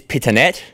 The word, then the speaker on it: Pittonet: So what's the correct pronunciation of your surname? Is it a fine wine or? It is Pittonet.